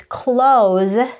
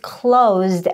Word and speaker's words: close: This word is pronounced as close when you are using it as a verb, like close the door. The shop is closed at 5 p.m. However, you have to pronounce it as close if it's an adjective, which means near.